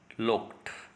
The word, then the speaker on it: looked: और जैसा कि मैंने ऊपर बतलाया था बिगनिंग में, आई लुक्ड, LOOKED, इसका रियल प्रोनाउंसिएशन क्या आएगा? लुक्ड।